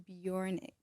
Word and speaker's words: BJRNCK: It's on all streaming platforms and my name is pronounced Bjornic. Okay. Cuz it's spelled like BJ. Yeah, it doesn't have any vowels. It's BJ R N C.